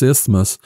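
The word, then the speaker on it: isthmus: it is on this ithos and one of those hard words to say especially if you looked at how it's spelled this ismos and it's a narrow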